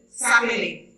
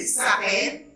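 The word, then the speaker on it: s'appellent: La tercera persona del plural como verbo, le ENT, no se pronuncia, no debe decir s'appelait. Il s'appelait, elle s'appelait. Non, c'est pas bon la prononciation. Il, pluriel, il s'appelle, elle s'appelle.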